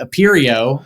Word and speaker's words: Aperio: is the founder of the imperio which is a debatable pronunciation but I'm running with it and the who not